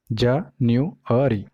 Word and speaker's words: January: तो ये जो है ये syllable है, तो इसमें 4 syllable है, January, जनवरी। तो जो स्ट्रेस है वो रहेगा सेकंड syllable पे, न्यू पे, ठीक है।